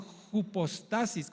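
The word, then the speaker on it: ὑπόστασις: podemos proyectar por favor juposistasis con acento en la o y esta palabra griega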